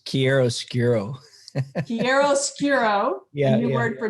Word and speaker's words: chiaroscuro: His bio says he is a chiaroscuro. Not right? No. You say it. How do you say it? It's chiaroscuro.